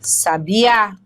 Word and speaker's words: sabia: mas a gente diz já sabia o sabiá canta de uma forma majestosa percebeu Olha aí a diferença sabia sabia E são muitas as